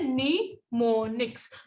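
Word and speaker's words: mnemonics: इनको, इनके लिए जो वर्ड होता है ना, तो इनका वर्ड जान लीजिए, इनको हम कहते हैं निमोनिक्स, लिखते ऐसे हैं और इसको बोलते हैं निमोनिक्स, तो इनको हम कहते हैं निमोनिक्स, ठीक है।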